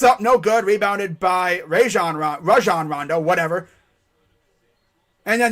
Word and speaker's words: Rajon: ra it's like ra rajan rondo yeah not raja not rageon it's rajon like rah-rah rajan rondo yeah sounds